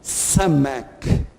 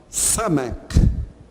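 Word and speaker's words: סמך: daguesh no meio, e ela é uma letra que tem esse som do S bem forte, é um S pronunciado assim de uma maneira muito clara, né? Samek.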